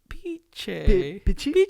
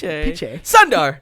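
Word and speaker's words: Pichai: Piche. Piche.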